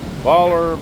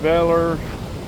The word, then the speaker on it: Baler: to pronounce it folks baller Beller some people roll the L depends if you're a local or not you speak to Gallo